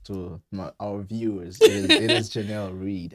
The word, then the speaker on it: Jenelle Reid: It is Jenelle Reid It's okay.